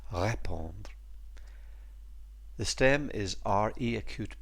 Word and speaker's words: répondre: And notice, by the way, there's an acute over the E, so that first syllable, ré, is stressed, répondre.